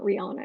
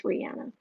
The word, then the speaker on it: Rihanna: she said that is actually the way to pronounce it it's not rihanna it's rihanna that's she has said that just throwing that